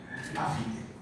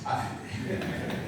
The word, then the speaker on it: AfiDe: And he said it's like Africa, AfiDe. Then this was confirmed by the one who offered the prayer. So now I know it's AfiDe.